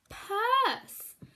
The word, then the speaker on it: purse: you can get it it actually has a silent letter on the end so we don't say the silent one uh purse we don't say the last sound it is a silent sound purse well done if